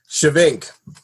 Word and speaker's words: Schyvink: your last name let's get that over with shink shink all right cool I definitely want to